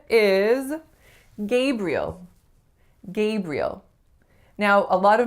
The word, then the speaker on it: Gabriel: So they might say Gabriel, and that may be how you hear that name pronounced once in a while, but more often than not, you are going to hear Gabriel, Gabriel.